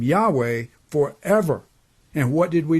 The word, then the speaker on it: Yahweh: read his name is yahweh you need to now a better pronunciation of the name of god is yahuwah so when i refer